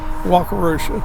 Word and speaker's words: Wakarusa: Um, so of course there's a bridge here and I can't pronounce the name of the river. Wakarooa. Walkarooa.